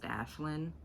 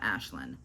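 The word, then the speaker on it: Aisling: our main character um i think it's pronounced ashlynn but it's spelled a-i-s-l-i-n-g um i don't know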